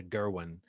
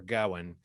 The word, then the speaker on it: Gawain: on that uh uh i always thought i was pronouncing gawain in the movie they say something like closer to gerwin or gowan um but uh sir gerwin sir gohan uh but we'll just